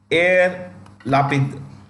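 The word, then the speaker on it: Yair Lapid: minister of Israel new prime minister of Israelis air lapid laughing that's how you pronounce it okay yeah love it so um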